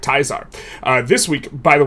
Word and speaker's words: Caesar: It's project teaser, but if you pronounce it correctly, it's of course project taizar.